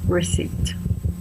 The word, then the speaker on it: receipt: Remember the pronunciation, receipt.